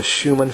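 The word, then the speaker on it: Schumann: on the Schuman frequency Schuman is spelled s c h u m a n the Schuman frequency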